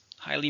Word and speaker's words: highly: Highly means a lot or very. It's an adverb. How many syllables? Highly. 2, stresses on the first syllable.